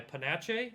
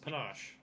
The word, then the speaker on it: panache: It's like chocolate ganache. Yeah. Mm. That's That's probably a Oh, fancy I word. think it was like pizzazz, panache.